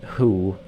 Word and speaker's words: who: Bronya here was the one who the long W who keeps messing me up because you don't pronounce the W in who.